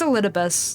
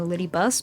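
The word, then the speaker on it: Elidibus: is still out there it's a lus that's how you pronounce it I just like calling him a lyus because it's sounds it's like a nickname it's still the full name but it's like a nickname version don't question shouldn't be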